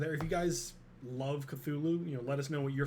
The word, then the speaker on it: Cthulhu: Well, Although, Cthulhu is correct. It is Cthulhu.